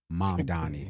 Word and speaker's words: Mamdani: Am I pronouncing his name correctly? Mamdani.